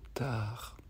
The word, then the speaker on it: Tar: Et dans cette troisième étape, quand on le sent et qu'on le donne, on le verbalise avec le mot Tahar, T-A-R.